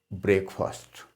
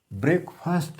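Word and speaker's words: breakfast: आई had already taken ब्रेकफास्ट। ब्रेकफास्ट है जी, ब्रेकफास्ट नहीं। कुछ लोग जो है ब्रेकफास्ट इसको पढ़ते हैं, लेकिन इसको ब्रेकफास्ट बोलते हैं।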